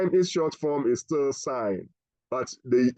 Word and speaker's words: sin: tangent however sign okay is written in short form as s i n and please it is still pronounce sign not sun is that clear yes